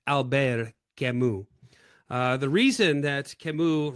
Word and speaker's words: Camus: I used to pronounce it Albert Camus until I had a French student years ago relentlessly mock me and straightened me out with Alber Kimu.